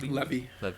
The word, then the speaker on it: Levy: How do you pronounce that name? Levy.